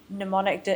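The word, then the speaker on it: mnemonic: It's cuz I misspelled it so that I would say it correctly. It's actually got a silent M at the beginning.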